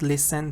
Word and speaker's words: listen: because we talked about listen T is silent yes listen to silence